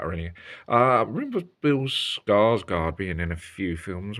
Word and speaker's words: Skarsgård: Now the cast is Bill Skarsgård. That's how you pronounce his name.